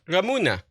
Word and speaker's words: Ramune: Apparently Ramune is pronounced with the E, but the E being pronounced like egg, like air. Ramune. Oh yeah, that sounds Japanese, doesn't it? Ramune.